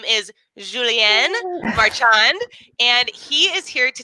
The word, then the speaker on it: Julien Marchand: So my name, as you said, you pronounced very well, Julien Marchand, and I'm a part-time academic in entrepreneurship.